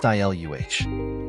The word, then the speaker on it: Isla: Isla. I flopped onto my back. Great. Her sister, Isla, pronounced ILUH.